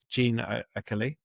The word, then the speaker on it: Jeanne Achille: Now, I'm excited today to be joined by Jeanne Achille. I'm going to pronounce that again and let my editor correct that one. Jeanne Achille.